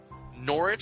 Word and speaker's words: Norwich: Norwich City. I'm pronouncing it right now. Norwich, not Norwich. Norwich.